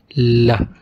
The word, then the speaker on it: ل: L. It's pronounced like L in English. It's soft in Arabic, but it's the same sound like L in lemon.